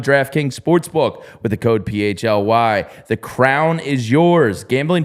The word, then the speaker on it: PHLY: I've seen some people discussing how we pronounce it and all that. It's PHLY.